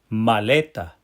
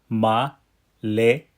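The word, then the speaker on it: maleta: Did you see here that that second to last syllable lei is the syllable that gets the pow. That's why you hear the word go up in the middle and then drop at the end.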